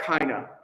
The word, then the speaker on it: keiner: sight of is basically every word in German, the second syllable is almost always going to be weak. So look, for example, at keiner, right? Keiner, not keiner, right? Keiner. And just throw it away like a schwa.